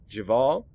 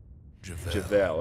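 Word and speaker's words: Jevel: We'll get rid of Pith, and we'll invoke Javal. Javel. Okay, thank you for the pronunciation correction, Rux.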